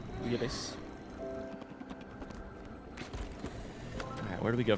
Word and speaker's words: bouillabaisse: Booyah base. Booyah base.